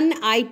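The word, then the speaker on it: knight: अ कि के य नाइट इसको हम नेट ही पड़ेंगे क्योंकि यहां पर के साइलेंट है तो इसको क्या पढेंगे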